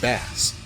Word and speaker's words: Bass: can be interpreted as a play on lords phonetically in japanese which sounds like bass speaking of which bass is sometimes pronounced bass by western fans but seeing as his namesake